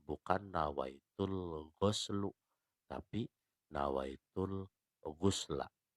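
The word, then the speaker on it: غسل: nawaitul ghuslu, tapi nawaitul ghusla. Pakai ghinnya yang dibaca dhammah. Karena kalau ghinnya yang dibacanya fathah, maka berarti mandinya nggak seluruh tubuh yang basah.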